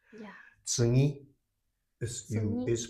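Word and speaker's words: 次: Wait, it's tsugi? Yes, Tsugi. very good. So in this case, G, or it's often pronounced tsugi, Tsugi. Tsugi. ni. It's also voiced. So this should be pronounced.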